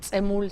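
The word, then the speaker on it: Dzemul: Tzemul, se llama Tzemul, D-Z-E-M-U-L. Es un poco difícil de pronunciar.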